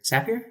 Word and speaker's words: Zapier: it zapier or zapier zapier it's apparently zapier because they they have the whole thing that Lis mentioned here zapier rhymes with happier as they say but